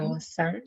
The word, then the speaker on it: 早晨: 早晨， Josan. 早晨, like Awesome. two syllables, right?